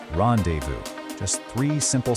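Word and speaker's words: rendezvous: Rendevu. This word is straight out of France. And in French, you often don't pronounce the consonants at the end of a word.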